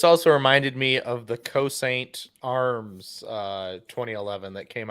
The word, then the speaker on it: Cosaint: reminded me of the cosaint arms uh 2011 that came out earlier this year what is that how do you spell that c-o-s-a-i-n-t oh exactly like it sounds okay cool okay uh